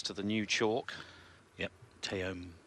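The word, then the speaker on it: Taom: Yep, Teom, I think it's pronounced Teom, from Finland, actually.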